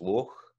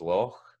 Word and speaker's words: loch: And then another sound we've got here is loch versus loch, loch. You'll hear that pronounced with a K a lot of time